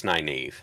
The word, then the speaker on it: Nynaeve: Again, I want to pronounce them like but Nynaeve. Look, it's Nynaeve.